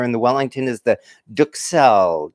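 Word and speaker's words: duxelles: the wellington is the duke cell duke cell not duck cell as i was pronouncing it so i use my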